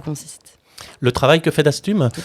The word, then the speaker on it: Dastum: le travail que fait d'astume tout à fait alors le mot d'astum déjà que vous avez bien prononcé bravo parce que c'est bien prononcé du premier coup donc ça veut dire